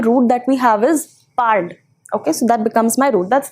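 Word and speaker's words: parles: Easy way to remember the endings, easy way to remember the pronunciation is that the endings E, es, e and ent do not change the pronunciation of my root.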